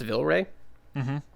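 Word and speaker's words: Vilray: l ra Y but I think it's pronounced Villa Rey he's he sounds like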